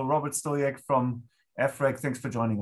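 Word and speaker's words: Stojek: I actually, before this call, I asked about the pronunciation of his name, and I learned that it's Stoyek. So Robert Stoyek from EFRAG, thanks for joining us.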